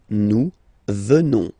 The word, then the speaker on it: venons: Final S not pronounced. So, you will get the sound venons. Nous venons.